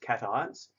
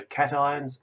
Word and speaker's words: cations: charged particles called cations I know it looks like patience but it's actually pronounced cations and negatively charged ions